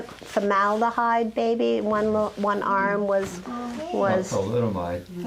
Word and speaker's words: thalidomide: One arm was Thalidomide. thalidomide.